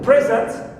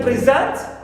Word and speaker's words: present: So if the first syllable is stressed, they are nouns. Because usually we stress two-syllable nouns on the first syllable. For example, I have present, it's a noun. But if I say present, here it becomes verb.